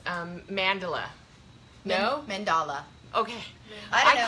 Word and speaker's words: mandala: the proper pronunciation um we know it's not Mandela it's mandala it's mandala mandala mhm